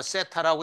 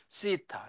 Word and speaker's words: 세타: 땡큐 할 때 그 th 있죠? 그거에 해당돼. 뭐 세타라고 읽어도 좋고 또는 이제 예시대로 돌아가서 이렇게 읽어도 좋고 요게 이제 오히려 더 가까운데 세타 세타 이렇게 읽도록 하고요.